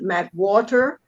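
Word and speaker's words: McWhorter: John McWater.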